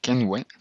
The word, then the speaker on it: Kenvue: la que os voy a hablar se llama kenway y bueno se escribe con k k nvi y seguramente no